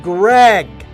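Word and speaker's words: Graig: player of all time greg spelled like craig but greg now a lot of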